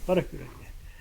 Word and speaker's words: Wharakura: Wharakura. I've been Spot on, working on brother. the pronunciation all night and I still got it right.